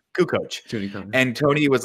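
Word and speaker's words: Kukoč: Kukoc.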